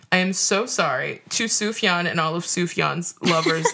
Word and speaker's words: Sufjan: I wanted to give you a heads up that his name is pronounced Sufjan, not Sufjan.